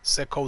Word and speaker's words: Sekou: our tongue as much Sekou is how you pronounce it Seco see Kobe got from